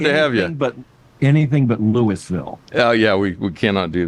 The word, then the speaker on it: Louisville: Albert Mohler is president of the Southern Baptist Theological Seminary in Louisville, Kentucky. Did I pronounce it right?